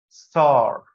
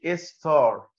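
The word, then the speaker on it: star: عندنا في العربي تمام فهتنطق دي ستار ستار ما تقولش استار خلي بقك مقفول سنه عشان ما يجيبش معه حرف الايدة ما تقولش ستار ستار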